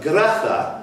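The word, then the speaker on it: Graça: Who was the second husband of Gratha, that's C, Cedilla thing underneath, Machel?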